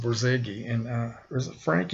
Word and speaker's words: Borzage: I was pronouncing his name Borzage, but I guess it's just Borzage.